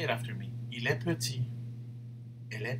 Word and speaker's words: petit: Il est petit.